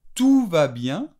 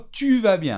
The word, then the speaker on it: tout va bien: podría decir, por ejemplo, tout va bien, ¿de acuerdo? Todo va bien, y no tu vas bien, ¿eh? Cuidado con la diferencia de pronunciación, tu vas bien, o tout va bien, tout es todo.